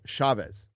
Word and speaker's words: Chavez: C H as in chair.